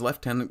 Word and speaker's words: lieutenant: His lieutenant, and I will use the British, or the English pronunciation there, his lieutenant Gilbert Pike and his